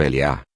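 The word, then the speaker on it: Eliyah: Existem duas formas de pronunciar o nome do profeta Elias. A forma curta como Eliá, e a forma alongada como Eliarro.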